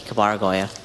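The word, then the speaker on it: Kabaragoya: Cabaragoya. This is painful. Horrible. C A B A R A G O Y A. Kabargoya. Oh, what? Oh, that is Kabar Goya is spelled K A B A R A G O Y A.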